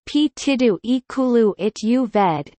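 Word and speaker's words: Partido Ecologista Os Verdes: The Ecologist Party, the Greens, Portuguese, Partido Ecologista, Os Verde, pronounced Pitido Iculu It Uved, PEV, is a Portuguese eco-socialist political party.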